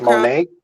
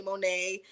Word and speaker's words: Monat: So many people pronounce it in different ways. We hear all types of pronunciations for it, but I say Monat. I know people say Monet. It just depends on where you're at in the world, for real.